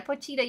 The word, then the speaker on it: Pochita: Poittita. Yeah, Pochita.